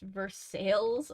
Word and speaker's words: Versailles: Youth though nice um there is a Versailles Indiana and it's pronounced Versailles I'm like why it's